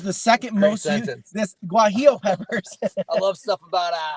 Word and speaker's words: guajillo: Would you call it gualo? I think it's pronounced guajillo.